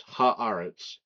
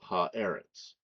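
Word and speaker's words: הָאָרֶץ: When you put the uh direct the definite article on eritz the the initial e becomes an ah so it's haaritz instead of ha eritz for some reason that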